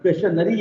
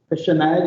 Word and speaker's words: questionnaire: Call it एज क्वेश्चनरी, बट क्वेश्चनरी इज a wrong pronunciation, questionnaire is the right pronunciation।